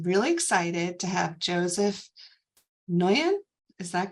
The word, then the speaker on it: Nguyen: So I'm really excited to have Joseph Nguyen. Is that correct pronunciation? Nguyen.